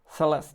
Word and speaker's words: Celeste: Celeste, not Celeste. Oh yeah, sorry. I was pronouncing it with my stupid German pronunciation.